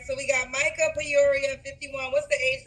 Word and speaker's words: Micah: All right, so we got Micah Peoria, 51. What's the age range? Is it Micaiah? How you say it again? No, it's Micah.